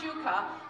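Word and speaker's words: ψυχή: there is the one that is Shuka it's pronounced Shuka but we get the word psychology or our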